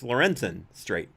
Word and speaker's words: Lorenzen Strait: Lawyers familiar with the new development said that I'm mispronouncing the name. It's Lorenzen Strait. There was an extra syllable there, who had overseen